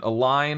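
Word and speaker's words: align: Canoe is weird because the OE says ooh, and a line has the silent G in the middle there, and halal is a little bit unusual.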